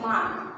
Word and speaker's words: মাঘ: তারপর দেখো মাঘ, ময়াকার মা, ঘ, মাঘ। এটা কিন্তু উচ্চারণ হলো মাঘ, ঘ। এখানে যদি গ লিখে দাও তাহলে ভুল, এটা কিন্তু মাঘ না, মাঘ।